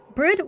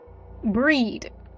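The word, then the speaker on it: Bríd: Brid was not or I imagine that's not how you pronounce that. Let me see. They have in the pronunciation. Breed. Got it.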